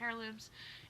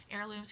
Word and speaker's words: heirlooms: moving into hedge craft heirlooms heirlooms excuse me still trying really hard to not pronounce that age um and part of